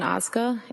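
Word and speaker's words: Ozga: Tell us your name, please, and spell it. It's Oza.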